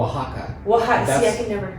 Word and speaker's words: Oaxaca: do you say that AWA how do you pronounce that a-o-x-c-a oh Oaxaca that might have been a mezcali oh that's